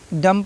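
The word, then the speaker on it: dumb: डम पढ़ना है, डम्ब नहीं पढ़ना है, ठीक है।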